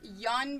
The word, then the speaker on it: Jan: set of 1/2 yeah yawn bear monkey were you aware that apparently it's pronounced young bear and I have been saying it wrong for years and and mr.